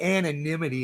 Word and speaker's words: anonymity: The staffers who spoke on the condition of anonymity, it's not anonymity, is it? Anonymity. Yeah, anonymity. I said it right.